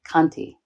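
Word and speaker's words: khanti: practice especially patients which in pali is pronounced kanti k-h-a-n-t-i in poly and you know as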